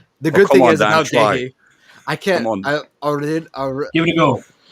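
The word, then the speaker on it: Guéhi: But the way I've been pronouncing it is kind of like how a Cockney guy would pronounce the name Harold. There's no H at the start of it. So Harold, yeah.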